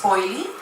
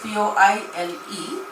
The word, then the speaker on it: Poile: My name is Poile. It's spelled P-O-I-L-E, but it is pronounced like you would say oily, boily, toily.